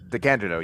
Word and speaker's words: DeCandido: And the first person whose face I recognized was Keith DeCandido. Is that how you pronounce it? DeCandido. Yes, I mispronounced it at the beginning of the interview episode, and he Oops. promptly corrected me.